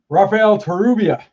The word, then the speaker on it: Rafael Torrubia: It's the double R that always throws me off, because I can't roll my R's.